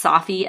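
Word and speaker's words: Safi: in the show notes I think his name is pronounced Sophie s-a-f-i um but he went through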